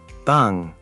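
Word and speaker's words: 빵: Bang? Is that bread? Yes, bang is bread. See how the ng at the end creates that ng sound?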